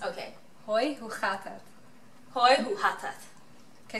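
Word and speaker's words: Hoi, hoe gaat het: Hoi hu hatat. Okay, so the G, the way we pronounce the G is really harsh, right? It's like oh. In the back of your throat, you say hoi hu hatat.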